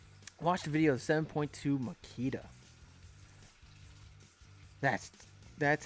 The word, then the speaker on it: Makita: Watch the video of 7.2 Makita. That's how you pronounce it, guys.